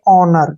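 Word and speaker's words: honour: उच्चारण न होगा और ओ यू आर का उच्चारण र के रूप में करेंगे इसको हम पढ़ेंगे ऑनर क्या पढ़ेंगे ओनर ठीक है ना होनर नहीं पढ़ना है इसको पढ़ना हमने ओनर ठीक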